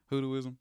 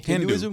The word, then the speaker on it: Hinduism: hudo hudo I think I'm saying it right hudo ISM am I saying it right the do you mean Hinduism Hinduism saying hudu Hindu combining Voodoo and Hinduism